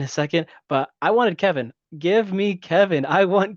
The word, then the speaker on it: Kevon: So it's pronounced Kevin then. It's Kevin. Okay, because we were pronouncing it Kayvon.